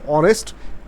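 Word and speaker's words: honest: এখানে অনেস্ট এইচের মতো উচ্চারণ হয় নাই।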